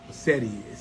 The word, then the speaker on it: cedi: CEDI, C-E-D-I, but it's pronounced cedi.